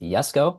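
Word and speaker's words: Jesko: selling out the koneg yesco I was informed by a commentary it is in fact pronounced yesco anyways let me check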